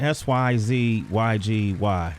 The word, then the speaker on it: Syzygy: SYZYGY.